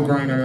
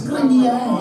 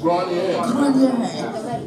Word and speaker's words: Grenier: So my last name is only, it's only like 7 letters long, but it still gets mispronounced. Whoops. Gotta give you a hard time. It's Grenier. It's French. Grenier.